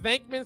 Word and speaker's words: Venkman: It's probably really Wankman, but it's pronounced Venkman, so like that's how they spell it in America, right?